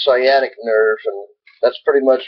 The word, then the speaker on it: sciatic: in reading about that how do you say it sciatic sciatic I keep wanting to say SCA or some reason but it's sciatic nerve and that's pretty